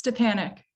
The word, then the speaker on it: Stepanek: so okay and Julia the pronunciation of your last name is stepanek it's to Panic it's stupid but you